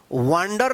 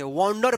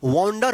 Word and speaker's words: wander: वांडर नहीं, वांडर नहीं पढ़ेंगे, वॉन्डर पढ़ेंगे। क्या पढ़ेंगे? इसका सही उच्चारण वॉन्डर होगा।